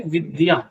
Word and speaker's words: विद्या: ये है आधा द होता है और यह इसके अंदर पूरा होता है, तो इसका शुद्ध उच्चारण होता है विद्या।